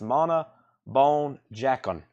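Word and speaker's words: Mona Bone Jakon: I call it the trash can album that looks like it's crying or something, but I believe it's pronounced Mana Bone Jacon.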